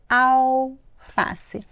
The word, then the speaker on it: alface: Mas a pronúncia, gente, não tem som de L. Au. Alface.